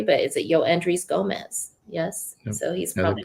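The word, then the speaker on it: Yoendrys Gómez: Make sure that I pronounce this correctly, but is it Yoendris Gomez?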